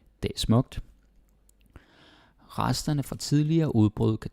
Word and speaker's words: tidligere: But nowadays, it's pretty rare to hear someone pronouncing it like the dictionary way, like tidligere. I might do it in a video because it's super slow. But if we speak fast, which you also hear me do sometimes, it's tidligere. Okay? Tidligere. So don't bother putting so much energy into saying tidligere. Danish people won't do it, so.